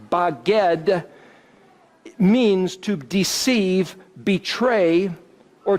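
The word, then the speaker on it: בגד: in Hebrew is that the word spelled bet gimel dalet pronounced by God means to deceive betray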